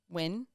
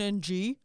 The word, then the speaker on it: Nguyen: like that's which like her name was fallon nguyen which like ng you pronounce win and of course we were all dumb white kids so we're like faron ng like no one ever even the teachers called her fallon ng like no one ever bothered